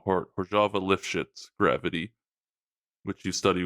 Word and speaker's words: Hořava: So yeah, Andrew studies correct me, is it Hořava or Hořava? I've heard both. I say Hořava gravity. Okay, because it's spelled Hořava, but Sergey calls it Hořava, and